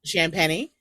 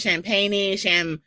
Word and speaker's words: Champagny: which is pretty, but Champagny is spelled like champagne, but there's an I between the N and the E. And this is what I have to go through all the time, like since kindergarten. Everyone says champagne, champagne. They all say it wrong.